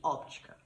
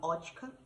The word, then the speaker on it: óptica: Eu tenho uma doença rara que chama neuromielite óptica. Alguns médicos falam óptica, outros falam ótica, mas a primeira vez me falaram óptica, então eu falo óptica e enfim. Alguns pronunciam com esse P, outros não.